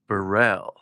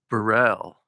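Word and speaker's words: Beril: I think it's pronounced Burell. B E R I L.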